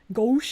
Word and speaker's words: gauche: The ow is pronounced O. Gauche. Gauche is not gosh, it's gauche. Osh, gosh, bagosh.